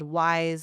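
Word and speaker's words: Wyse: It's called Wise Like Wisdom. It's spelled Yse.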